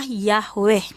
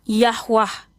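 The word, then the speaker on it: Yahweh: Pelafalannya, pronouns-nya adalah Yahwe. Ada yang pelafalannya Yahwah. Yahwah itu adalah berdasarkan lidah. Ini namanya dialek.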